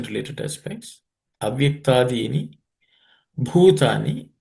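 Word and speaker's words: भूतानि: Avyaktadini bhutani. In this, bhu is fourth letter in the per class of consonant, so it has to be aspirated.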